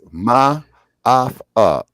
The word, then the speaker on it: Maafa: it's Ma'afa. It's spelled Maafa.